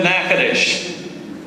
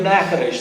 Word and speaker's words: Natchitoches: Well, good afternoon, and welcome to Natchitoches.